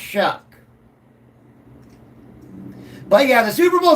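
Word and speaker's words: Shough: It's Tyler Shuck, not show. It's Shuck. It is pronounced Shuck.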